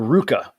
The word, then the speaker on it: RVCA: at a company called Ruka RVCA it's pronounced Ruka but it's spelled RVCA uh aruka clothing and